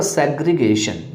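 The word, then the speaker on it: segregation: Next आपका सेग्रीगेशन। यहाँ पे याद रखिएगा SEG सेग होगा, सेज नहीं होगा, सेग्रेगेशन नहीं होगा, सेग्रेगेशन होगा। आपको यहाँ पर में गा का प्रोनाउंसिएशन सीखना है, ना कि जा का प्रोनाउंसिएशन सीखना है।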